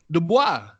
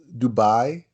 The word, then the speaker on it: Dubai: on megabill say good words he going to Dubois not do book Dubai do I say - I said you say